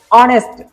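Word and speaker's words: honest: तो यहाँ पे ऑनेस्ट, ऑनेस्ट लिखा है एच लेकिन आपको उच्चारण देखना है, प्रोनाउंसिएशन ऑनेस्ट, तो यहाँ पे क्या आ जाएगा? एन आ जाएगा।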